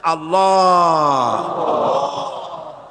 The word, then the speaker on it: আল্লাহ: পাকের নামের উচ্চারণ হচ্ছে আল্লাহ মুখটা একটু গোল হয়ে যাবে বলেন আল্লাহ সুবহানাল্লাহ পৃথিবীতে বিভিন্ন জাতি